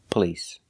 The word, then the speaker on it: police: word is police police we don't use the a sound like stop and hot we use the uhuh the short sound uh like cup and up p p police the stress is on the second syllable police it's not on